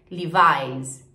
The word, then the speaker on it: Levi's: Levi's em inglês, Levi's. Levi's também tem uma pronúncia super diferente.